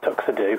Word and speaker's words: TuxEdu: Well, can I just talk about first why I felt the need to create TuxEdu? Yeah. Yeah, sure. Your pronunciation there. TuxEdu, like tuxedo, rather than TuxEdu.